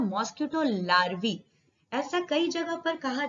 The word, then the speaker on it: larvae: अब ये mosquito लार्वी spelling देखिए LARVAE।